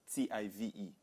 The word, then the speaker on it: Tive: If you try to pronounce TV like an English word, it's Tive.